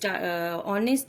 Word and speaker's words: honest: Here the adjective is honest is starting with the consonant H, but here also the H is silent, and it seems that the word honest is starting with the vowel O.